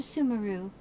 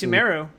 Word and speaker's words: Sumeru: you to go to sumaru that's how you say it yeah on our journey so far I've been saying it's sumero I also see some